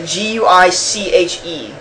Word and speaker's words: Guiche: It's like Guiche. I don't think it's pronounced gooch. Guiche? Guiche? Yeah. Well, it's like quiche, except with a G.